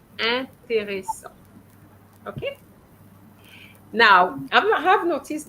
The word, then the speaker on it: intéressant: En is en, not in. So you're going to say intéressant.